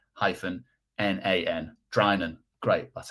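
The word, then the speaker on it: Drinan: You'd call that Dinan probably. probably, you know, it's almost like dinner, so you wouldn't call it diner. Um, and it's pronounced dran.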